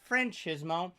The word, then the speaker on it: Franchismo: better than me yeah how do you say it it's francismo and the funny story